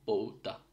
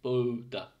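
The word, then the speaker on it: pouta: Finish আ বা বাংলা একতারার যে এ, যেরকম আইতি সে এ, আর এটা হলো নর্মালি ও আর ইউ মতো উচ্চারণ, যেরকম পৌতা পৌতা, ঠিক আছে, পৌতা। সো পি এর পরে ও, পৌতা।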